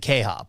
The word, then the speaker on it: KHOP: at 95 1 fm or is it k-hop what what do you how do you say that uh the jingle is k-h-o-p at 95. it's k-hop khop 95.1 uh modesto we